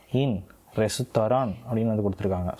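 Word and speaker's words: レストラン: ஸோ இந்த இட் அப்படின்ற வந்து ஸ்ட்ராங்கான சவுண்ட்ஸ்லாம் வந்து அங்கே கிடையாது. ஸோ அதனால் இந்த இன்னோடவே வந்து அவங்களோட சொல் வந்து ஸ்டாப் ஆகுது.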